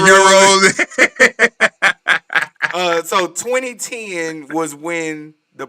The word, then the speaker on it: gyros: He pronounced gyros. It was supposed to be euros.